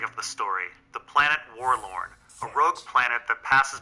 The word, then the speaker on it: Warlorn: And Warlorn rhymes with forlorn, which means abandoned or lonely.